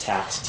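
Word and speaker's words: Taix: mausoleum of, I think his last name is pronounced Tax, T-A-I-X.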